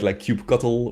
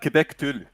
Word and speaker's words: kubectl: Yeah, it was like kubectl or cuddle even, or Quebec Tulle.